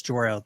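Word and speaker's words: Jor-El: It's Jorel. People are going to hate you if you keep saying it wrong.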